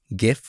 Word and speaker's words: GIF: You can either choose JPEG, PNG, GIF or GIF, however you like to pronounce it.